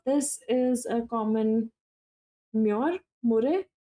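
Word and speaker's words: murre: U this is a common mure mur. How do you pronounce it?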